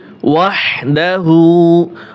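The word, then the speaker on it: وحده: আশহাদু আল্লা ইলাহা ইল্লাল্লাহু, ইল্লাল্লাহু, ইল্লাল্লাহু ওয়াহদাহু, ওয়াও হা জবর ওয়াহ, ছোট হা, হাই হুত্তি, সুন্দরভাবে উচ্চারণটা হবে।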